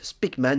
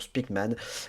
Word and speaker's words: Speakman: je parle de Jeff spikman ou Jeff spckman voilà on a plusieurs prononciations j' dit spman moi que spman bah alors c'est ouais bah donc spman on va rester sur spikman mon cher Seb peux-tu